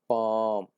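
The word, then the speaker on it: palm: जैसे लफ्ज़ है पाम, एल साइलेंट है, इसको कुछ नहीं करेंगे।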